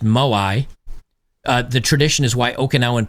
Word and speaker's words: moai: Here, this study that they have on the blue zones, which is, it's pronounced Moai, the tradition is why Okinawan people live longer.